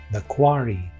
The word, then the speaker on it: The Quarry: 介するザ・カレーはどんなゲームなの？カレーじゃないよニコ。発音は The Quarry。